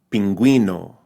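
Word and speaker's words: pingüino: unless this is true unless the U is marked with a diasis or those two dots Right Above It uh in German they call it theat right then it's pronounced like a w right so beru the U now sounds more like a w linguista linguista pinguino pinguino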